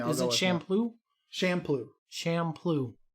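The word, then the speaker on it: Champloo: is it shampoo shampoo shamploo it's spelled like champ and then lou okay champion poo poo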